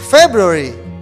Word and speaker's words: February: the second one is february february february february the stress is in the first syllable like january okay let's say together